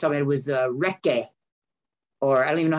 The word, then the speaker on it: recce: Is it recce? How you pronounce it? Recce. You would have heard R-E-C-C-E. And it is reconnaissance.